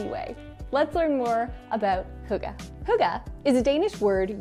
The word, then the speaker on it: hygge: And that word is huga. Now, it's spelled like this, so you would be forgiven to not think that it's actually pronounced huga.